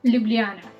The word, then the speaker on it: Ljubljana: pronounce it ljubljana ljubljana and if you are like me who is used to pronounce j as j in english alphabet j here is pronounced as u or the epsilon or y in english alphabet so if you want to